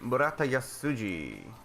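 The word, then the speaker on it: 村田安司: Murata Yasuji. Murata Yasuji. Thank you. This is he. Did I spell that right?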